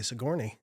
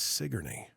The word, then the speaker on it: Sigourney: r n NE so how would you say that uh if I was not from Hartford I'd say Sigourney right it's sigy yeah you never know that